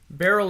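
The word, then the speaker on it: Beryl: it all right for family Barrel is spelled weird right b e r y l the name not the thing you put wine in oh did you did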